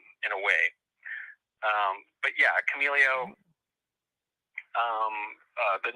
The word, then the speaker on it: Chameleo: Is that the pronunciation for it? Chameleo.